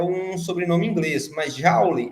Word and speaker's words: Joule: um sobrenome inglês, mas Joule é um sobrenome francês, então não se pronuncia Joule, se pronuncia Joule. Porém, ninguém vai falar Joule, né? A gente fala Joule mesmo.